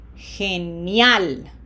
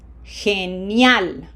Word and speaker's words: Genial: Okay, again, we have two vowels next to each other. We have to say each one of them independently. And what is GE? That's G. Genial. Genial.